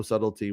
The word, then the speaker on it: subtlety: Hamill's performance has no subtlety whatsoever there's not really a lot rooting between the alliance of it yeah sub with with uh with without a silent B you know yeah so